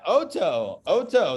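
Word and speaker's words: אותו: Oto. Yeah, Oto.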